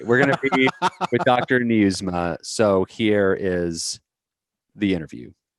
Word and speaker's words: Nieusma: Nieusma. So here is the interview. And we're recording, but will you pronounce your last name for us? Nieusma. Just like you're reading news to your ma.